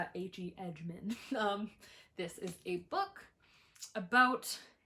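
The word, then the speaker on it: Edgmon: I always want to say H.E. Edgemon. There's also no D at the end, so I don't know why I keep pronouncing it like Hedgemond, H.E. Edgemon.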